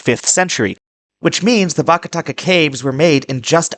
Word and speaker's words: Vakataka: But they came back about 500 years later and they made things that were far more elaborate under the Vartakaya? Vakataka.